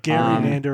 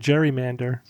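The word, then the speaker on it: gerrymander: It's like Gary Mander and Jerry Mander. So Gary Mander Gary Mander. But whatever it is you're right. If most people are saying it that way, that's the way it is now.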